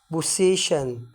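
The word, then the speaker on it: possession: بتنطق ايه؟ زي كلمة ميشن، كلمة ميشن. ها. وكلمة ايه؟ بوسيشن، بوسيشن اللي هي معناها ايه؟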